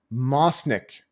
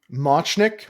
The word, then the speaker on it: Machnik: This is called Mo Mosnik. How do I pronounce the C here? I don't know how to pronounce the C with this accent here. Machnik. Machnik. Thank you, Metro. Ch like chess.